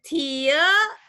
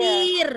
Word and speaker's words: tear: Ini artinya air mata. Jadi bacanya tia. Bacanya gimana? Iya. Tear. Jadi kalau air mata tuh bukan Tear. tir, bukan. Tear.